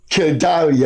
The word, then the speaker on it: Gildarie: And as usual, the man with the stale jokes by my side here, Guyana's enduring journalist, Leonard Gildarie. I got that pronounced.